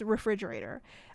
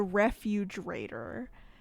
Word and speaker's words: refrigerator: Okay, it is refrigerator. I called the refrigerator the refugerator. And I said that for such a long time.